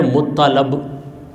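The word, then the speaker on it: مطّلب: کے دادا عبد المطلب، بہت سے لوگ عبد المطلب کہتے ہیں، اس کا صحیح تلفظ ہے مطلب.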